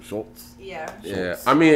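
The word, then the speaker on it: Schulz: Wait, that's how you pronounce the last name, right? Shultz?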